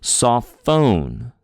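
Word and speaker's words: σοφόν: So sophone. Sophone. We put a little more oomph on the phone syllable, right? Saw is the first syllable, saw, and then phone. Phone is the second.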